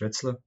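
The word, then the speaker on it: Radosław: of doubting corporate valuation my name is pronounced red slow and our today's question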